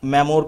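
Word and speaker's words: memoir: देखो, जिसे मैं मेमोर बोल रहा हूँ उसकी करेक्ट प्रोनाउंसिएशन मेमो आती है, लेकिन समझने के लिए मैं आप लोगों को इसे मेमोर बोलूंगा ताकि इसे आप अच्छे से समझ सकें।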